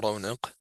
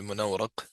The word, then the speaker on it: Munawraq: Al Munawraq or al Munawraq. We'll discuss that, which are the two ways of saying it. في علم المنطق, either way, منورق with the فتح بدرة or مرونق with the فتح بدنون.